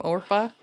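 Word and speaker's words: Orpah: That was her real name, Orpa. Oh, was it really? Yes, and nobody could pronounce it, so everyone was like Oprah, and she's like, well, Oprah it is.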